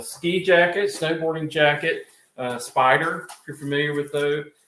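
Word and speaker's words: Spyder: jacket snowboarding jacket uh Spider if you're familiar with though with that brand s-p-y-d-e-r I think spider let me just spell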